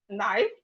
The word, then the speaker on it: knife: So we have knife. Knife start with K. The K is silent.